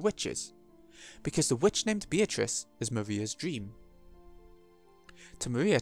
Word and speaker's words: Beatrice: That's how they say it in the anime, Beatrice.